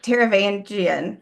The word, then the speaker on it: Taravangian: I think Taravangian, which is how it's said in the Hmm.